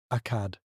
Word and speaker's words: Agade: He calls it Agade, which we pronounce as Akad.